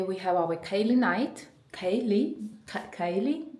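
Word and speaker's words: ceilidh: Kaylee. I think this traditional Scottish dance is pronounced like this, and this is the fit I'm wearing.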